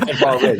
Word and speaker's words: Tavares: God, Yeah, I'm not saying Tavares. Tavares. It's Tavares, sorry. Yeah, I'm pronouncing it properly now.